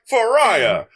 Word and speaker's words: pariah: He's like, Pariah. This is a pariah. Rhymes with Mariah.